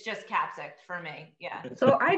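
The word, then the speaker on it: Kaapzicht: So it's Dutch. So they would say Kapzicht. Kapzicht. Okay. Kapzicht. I just say Kapzicht. I'm from Kapzicht. Long Island. There's no, like, it's just Kapzicht for me.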